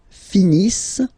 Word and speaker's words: finissent: Ils finissent. So remember, as usual, when we get the verbs E and T not pronounced.